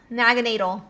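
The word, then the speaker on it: Naganadel: Naganatal. I was asking them how to pronounce the Pokemon's name, guys.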